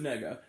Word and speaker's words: Negga: I think it's pronounced like a negative, like nega, like the nega, like Scott Pilgrim, Nega Scott. I think that's supposed to be how it's pronounced. Ruth Negga.